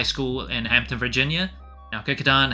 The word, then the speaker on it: Kecoughtan: And the green and white colorway, that is based on Howard White's high school, Kickatan High School in Hampton, Virginia. Now Kickatan has a very different spelling than the pronunciation.